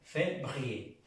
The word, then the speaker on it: février: Pronunciamos la E como en el español, février, février.